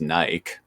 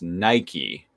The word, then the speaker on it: Nike: I mean, that word, looking at it, would probably be pronounced Nike. Like, Mike, bike, etc. Like, yeah, exactly. Right. But it is a name of a brand, and that brand name is pronounced Nike. So it is therefore absolutely 1000% pronounced Nike.